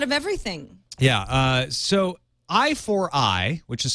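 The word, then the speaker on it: i4i: it's a lot of everything yeah uh so I4 I which is spelled I the number four and then the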